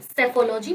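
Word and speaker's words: psephology: trend के पढ़ने को सेफोलॉजी कहा जाता है सेफोलॉजी प इ साइलेंट थियोलॉजी थियोलॉजी का मतलब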